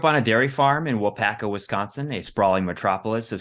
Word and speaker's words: Waupaca: I grew up on a dairy farm in Waupaca Wisconsin a sprawling Metropolis of 6 000 people